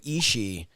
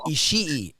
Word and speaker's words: Ishii: I have always pronounced his name with like Ishii, like with I put a little extra, because there's so many I's in there that I put a little extra I in the sound.